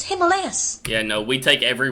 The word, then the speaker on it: Himalayas: it and been like, that's not the way you pronounce it, it's Himalayas.